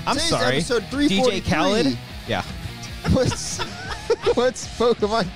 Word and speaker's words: Khaled: Because I was saying it DJ wrong Khaled. The whole time. Did you call him DJ Khalid?